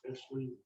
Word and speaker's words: Esley: On the type A board, Darren Beck was term limited, and Esley, that's pronounces her name, Esley.